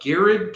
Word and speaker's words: Garrard: It's like garage and garage. Right? Garrard. So anyways, they it's like it's Gerard. Oh, you asses. Excuse me. It's a French pronunciation.